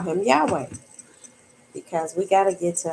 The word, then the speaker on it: Yahweh: While it is almost, if not quite certain, that the name was originally pronounced Yahweh.